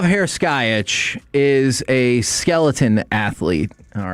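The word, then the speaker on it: Heraskevych: made the mistake of not looking up this pronunciation ahead of time. It's Vlatislav. Oh, it's Harris Skyitch. I knew that. Hey, good for me. Vlatislav Herkyitch is a skeleton athlete.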